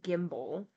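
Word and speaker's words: gimble: the there we go make the G hard in guy and Gimbal and pronounce wrath to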